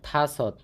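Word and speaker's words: 다섯: চার থাসত থা সৎ এটার উচ্চারণটা হবে থাসত থাসত মানে হচ্ছে পাঁচ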